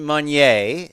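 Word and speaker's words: Meunier: talk a little bit about this uh Christian manier that is the way his name is pronounced he was named the chair of Nissan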